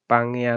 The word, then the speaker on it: Pangaea: Kalau bacanya dalam bahasa Inggris itu Pangaea, ya, Pangaea.